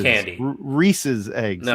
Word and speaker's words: Reese's: It's not Reese's. Reese's. You can look it up online. They even I tell know you. how it's pronounced. I'm just telling you how we pronounce it out here.